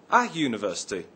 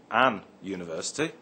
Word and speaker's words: university: look at the word university we say a university not an University the word University begins with a u but is pronounced with a Y sound at the beginning other examples are a